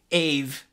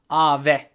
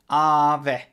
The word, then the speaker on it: Aave: everybody is calling it a v' and that's how an english person would pronounce it but this is actually a Finnish word and it's pronounced Ave Ave so it's a bit